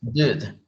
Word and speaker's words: dude: Es dude. Es dude. Es como que no esté pronunciando la E, solo dude.